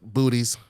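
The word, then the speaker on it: Boötes: towards bootes I mean I know how to say it booties boots colloquially as the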